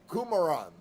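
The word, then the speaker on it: Qumran: hesitation he finally said it is called Kuman which he pronounced as kumaran at the time this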